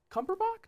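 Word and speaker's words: Cumberbatch: I mean well put and it's Cumberbach not batch. I don't I'm asking you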